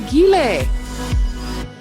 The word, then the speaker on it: Giele: be here and I'm so excited that you pronounced my name correctly on the first try that never happens I